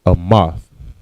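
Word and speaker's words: אמת: The word truth in the Hebrew is amath.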